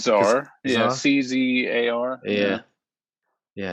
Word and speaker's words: Czar: How do you pronounce that? I think it's Czar.